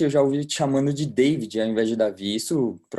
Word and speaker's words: David: chamou de Davi né Depois que eu fui entender que o demônio no final muda a pronúncia né então se você for pegar literalmente meu nome é David mas ninguém me chama de David minha mãe não chama meu pai não chama então é Davi é mais um comando